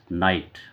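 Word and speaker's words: knight: अच्छा नाइट रात और इसमें के लग जाने से के साइलेंट होता है। नाइट नाइट माने योद्धा।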